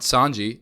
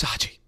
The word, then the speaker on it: Saji: It's not Sanji, it's Saji. That's how you're not pronouncing my name right. It's easy. It's just S-A-J-I. It's 4 letters.